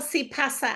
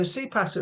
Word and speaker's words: CPaaS: Think que pasa, as in what's going on.